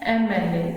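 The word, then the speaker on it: MLA: मैंने तो एन लगा दिया यहाँ पे क्योंकि मुझे तो प्रोनाउंस करके ये लगा कि ए की आवाज दे रहा है, ये कॉन्सोनेंट नहीं, ये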